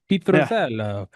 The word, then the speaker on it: Pitruzzello: Pitruzzello.